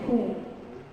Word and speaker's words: whom: W is not pronounced in these famous three pronouns, which is who, whose, and whom.